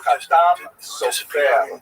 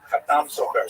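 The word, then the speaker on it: Chatam Sofer: That would be a Sephardi pronunciation, or at least a poor imitation of a Sephardi pronunciation, which means the seal of the scribe. Khatam Sofer, Sephardi pronunciation. Obviously, some of the consonants are slightly different, and the emphasis tends to be on the last syllable.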